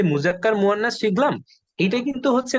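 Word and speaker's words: مذكر: তো এটার vice versa আছে, যে এই যে মুজাক্কার, এই শব্দটার উচ্চারণ হচ্ছে মুজাক্কার, আর এই শব্দটার উচ্চারণ হচ্ছে মুআন্নাস।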